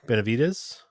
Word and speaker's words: Benavides: But anyways, the overall winner was Kevin Benavides. I think it's how you pronounce And it.